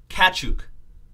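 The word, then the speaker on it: Tkachuk: next for the flames Matthew cat sook see the T is silent flames Calgary Todd Andrews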